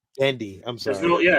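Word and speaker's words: Genndy: butcher it every time gendy dendi I'm sorry there's no yeah there's no R yeah I don't know where it comes from I don't that an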